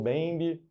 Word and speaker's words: Mbembe: O Mbembe, talvez seja assim. Outras pessoas falam só o Bembe.